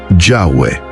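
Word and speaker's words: Yahweh: Aunque Jehová se abrió camino en himnos, traducciones y tradiciones eclesiásticas, los estudiosos de hoy coinciden en que Yahweeh es la reconstrucción más precisa de la pronunciación original, aunque incluso esta sigue siendo algo incierta.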